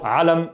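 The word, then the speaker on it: علم: So alam, here's the ayn. The ayn is playing that role of confusing you. The confusion role, مش عارف, بس alam, yeah? So alam, alam, okay?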